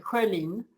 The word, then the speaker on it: Schölin: Yeah, it's not with two dots, so it's pronounced Schölin.